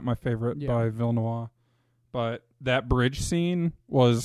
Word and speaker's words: Villeneuve: Villeneuve, however you say it. I think it's like a French, dead on the end. Villeneuve.